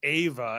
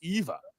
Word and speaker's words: Eva: I just want to on our shorts, you and Foster keep saying Ava, and it keeps spelling it AVA. And somebody came by a video and said, "I like your video, but you say her name weird." And so I just want it's Eva.